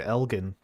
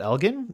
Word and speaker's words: Elgin: Ottawa named after Lord Elgin, and French speakers would often pronounce it with a soft G.